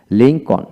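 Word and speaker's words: Lincoln: kernel এরকম হবে তারপর আসেন লিংকন লিংকন ব্যক্তির নাম লিংকন এল উচ্চারিত হবে না তারপরে হোম এইচ এ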